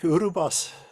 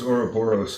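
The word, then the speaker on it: Ouroboros: characters the world snake urub boss Oh orical I thought it was Ora boros I maybe okay yeah been mispronouncing it in my head this whole time it's my English accent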